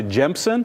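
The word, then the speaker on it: Gemsen: anything reach out to jemsen and it's spelled just like it sounds g-e-m-s-e-n you can find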